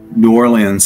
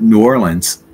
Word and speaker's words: New Orleans: about the football team it would be the New Orleans Saints if I'm talking about the city like I'd love to go to New Orleans it's more like New Orleans I guess New Orleans New Orleans you could